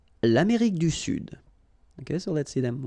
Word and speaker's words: Sud: L'Amérique du Sud. Here you should pronounce the D. Sud.